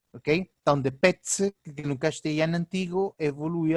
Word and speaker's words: pez: Esse C era uma pronúncia mais forte, como o TS, petse, que depois evolui a pez, ou pez. No espanhol peninsular mantém-se uma interdental, pez, mas no espanhol americano é uma sibilante, pez, ok?